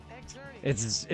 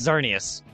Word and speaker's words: Xerneas: No, it's Xerneas. For being a fat bitch, stump to the head. It's Yveltal or Yveltal and Xerneas, as I always have called it. The X is silent then. Yes, as it is in Xemnas' name as well from Kingdom Hearts.